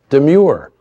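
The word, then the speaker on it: Domergue: She insisted, however, it be pronounced Demure.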